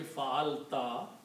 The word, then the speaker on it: fa'alta: If you put a ta at the end of 3 letters, the pronunciation will be fa'alta.